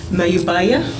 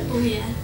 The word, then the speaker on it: Mayabuya: On our far right, we have Kumari Middleton, and I did check with Kumari before we started on the correct pronunciation of Mayubaya. No, but Mayabuya. Mayabuya. There we go, Mayabuya.